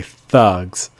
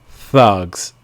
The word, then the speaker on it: thugs: sound strong to say thugs and also note that the the s at the end of the word is really pronounced like a z so make the sound strong and long thugs if you try to